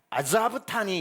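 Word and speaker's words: עזבתני: 히브리어로는 정확히 엘리 엘리 라마 아자브타니 이렇게 시작을 합니다. 근데 예수님은 십자가에 위해서 갈릴리 방언인 아람으로 아자브타니를 사막단이 사박단이라고 발음하신 거지요.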